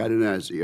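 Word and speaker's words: Cadenazzi: And sir, I hope I pronounced your name exactly correct. You did absolutely, sir. Katanazi.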